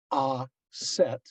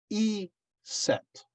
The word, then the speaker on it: Isis: for some people it is isis the long i for others the vowel is a long a for still others it is a long e sound as in meat of course in addiction her name was actually said as either ah set but or they will